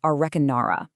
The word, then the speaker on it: Arreqqanarra: It comes from a framework called A Re Qu Na Ra. That's spelled A R R E Q Q R N A R R.